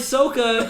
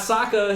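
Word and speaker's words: Sokka: the guy who played SOA in the last air bender and yeah SOA not Saka his real pronunciation you pieces of [ __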